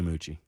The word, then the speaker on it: Moochie: Am I pronouncing that correctly, Moochie? Yes. Yes, you are, man.